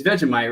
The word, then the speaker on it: Vegemite: It's Vegemite, right, Shane?